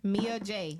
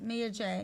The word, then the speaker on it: Mia J: Mia J. Mia J.